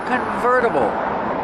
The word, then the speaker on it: convertible: no roof it's a convertible pronunciation converter verter use a fast D the T changes to a fast D ver convertible this is a convertible because